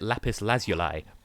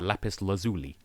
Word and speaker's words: lapis lazuli: complete mental blank how in british english we pronounce it lapis lazuli but for whatever reason americans pronounce it lapis lazuli which i suppose makes more sense like bearing mind how it's written silly right do i